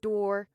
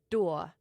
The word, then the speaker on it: door: Meaning, in a word like door, you drop the R and you put in a schwa. So, instead of door or dool, it's doa.